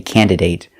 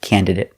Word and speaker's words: candidate: by hand example candidate I've heard Americans say candidate but it doesn't sound right and it doesn't follow the rule so pronounce it candidate it sounds better example did they choose